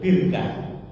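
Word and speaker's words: بِرْكَة: sama ta marbutah nah ini kalau ditulis tanpa harakat bacanya bisa barokatun Barokah bisa birkatun birkah maknanya apa Barokah itu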